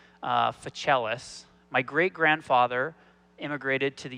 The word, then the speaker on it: Fichialos: If you ever have a hard time saying my name, think of somebody who plays a cello, Fichialos.